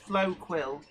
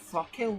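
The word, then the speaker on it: Floquil: That Flow Quill, I've been told it's pronounced Flow Quill. I'm sort of like, Flockkill, what's this?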